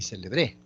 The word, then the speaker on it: celebré: decir celebre célebre y celebré cada palabra por la ubicación del acento tiene tiene distinto significado también podríamos decir por